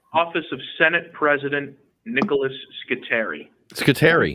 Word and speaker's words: Scutari: You want to leave a message for Nick Scutari?